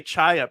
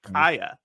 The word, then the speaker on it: Chaya: So it's the way she's saying it that like we say Chaya, but she's saying like Kaya.